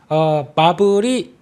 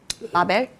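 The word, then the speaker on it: Marvell: 마블이 마벨? 네. 네. 마벨이라고 합니까? 그 본토 발음은 마벨인가요? 네, 네. 그렇습니다. 마블, 네. 예, 동남아는 마블.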